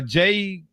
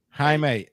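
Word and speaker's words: Jaime: Uh uh Jamie Ger Guera if I'm pronouncing that correctly. Forgive me if I'm not. They were Oh, ha. My bad. Okay. Haime. Oh, stop it. Anyway, what's his name? Oh, okay. Haime. Okay.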